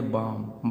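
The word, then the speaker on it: bomb: अब देखिए, यम के बाद बी दे दिया है, इसको हम पढ़ेंगे बाम। बाम माने होता है बम।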